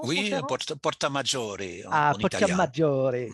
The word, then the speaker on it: Porta Maggiore: Voici la porte majeure, la porta maior, c'est comme ça qu'on prononce, mon Oui, cher Hans? Porta Maggiore Ah, en Porta italien.